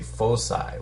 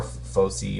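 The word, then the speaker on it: foci: since there's two focuses you don't say focuses you say full side which is F both sides or Foe C or a lot of people pronounce it differently okay so there is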